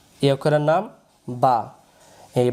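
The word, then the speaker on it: ب: এই অক্ষরের নাম হল বা। এই অক্ষরের নাম বা।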